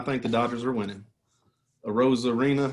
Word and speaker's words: Arozarena: Arozarena, how you say his name?